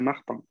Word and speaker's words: Martin: Solo atención con el nombre, que en francés es Martin. ¿Okay? Se pronuncia Martin, ¿no? Porque la IN sería nasal, ¿no? Un sonido nasal, por ende es un.